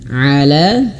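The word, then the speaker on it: على: Ala ala huruf ainnya diperjelas a a jangan hanya sekedar ala ala siro bukan a huruf ainnya diperjelas di tengah tenggorokan a kalau huruf ain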